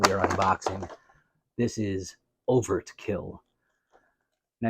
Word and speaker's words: Over-T-Kill: are unboxing this is over to kill now you may say I think you're mispronouncing it I think it's Overkill but no no no he has a t in there uh overtkill is a giant robot